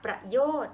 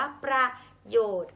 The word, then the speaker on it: ประโยชน์: มา ให้ คริสต์ อ่าน ประโยชน์ ก็ ผิด นะ คะ เพราะ ฉะนั้น ต้อง อ่าน ว่า ประโยชน์ ออก เสียง เหมือน มี หอ นำ เพราะ ฉะนั้น คำ อ่าน